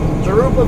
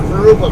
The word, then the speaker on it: Jurupa: But anyway, Jurupa Valley, or Jurupa Valley, is the proper way to pronounce it.